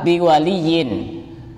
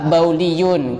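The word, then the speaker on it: بِوَلِيٍّ: Ada keterangan la nikaha illa biwaliyin. La nikaha illa biwaliyin. Tidak sah nikah kecuali dengan wali. Dan dia tidak mengharokati itu. Pas dia bacanya la nikaha illa bauliyun, kecuali orang yang suka kencing.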